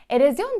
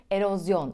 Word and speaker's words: erozyon: ne denir diye sorsam ne cevap verirsiniz erozyon diyorsanız yanılıyorsunuz Çünkü doğrusu erozyon olacak 19'uncu sırada İsa dinozor